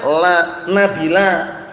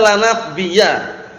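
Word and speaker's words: لا نبيَّ: Berarti nabi namanya la nabila. Paham ya? Itu. Tapi la itu yang benar nabiyah jinsi, bacanya la nabiyya.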